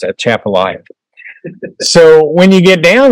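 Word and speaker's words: Atchafalaya: people try to lull you into thinking it's pronounced some other way, it's at Chapala.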